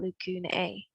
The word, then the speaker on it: lacunae: If you are talking about the plural form of the word, we use the AE ending and we would pronounce that lacunae.